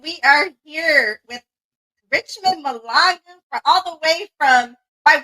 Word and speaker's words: Mahlangu: In my country, it's pronounced Mahlangu in South Africa, but in America, it's pronounced Malangu.